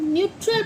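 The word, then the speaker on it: neutral: एन ई यू टी आर ए एल इसे हम न्यूट्रल पढ़ते हैं। न्यूट्रल। न्यूट्रल। क्या पढ़ते हैं इसे? न्यूट्रल। इसकी प्रोनाउंसिएशन क्या हुई?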